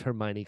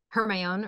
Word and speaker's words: Hermione: I I refuse to believe that any child pronounced Hermione correctly when reading the books there's no way her my own or her yeah yeah there's there's no way